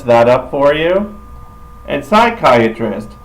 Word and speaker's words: psychiatrist: up for you and psychiatrist psychiatric spelled a little differently you see in Spanish they just spell it like it sounds nope English we got to put in a silent P cuz we are English